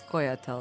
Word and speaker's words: Scoia'tael: So it's Scoia'tael, that's how you pronounce it.